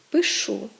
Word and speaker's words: пишу: так мають наголос правильно Вони мають наголос кінцевий коли помилковий наголос він кореневий цей наголос теж зумовлений діалектним оточенням переважно і переважно впливом південно-західного наріччя тобто правильно казати ношу ходжу пишу і можемо спостерігати зовсім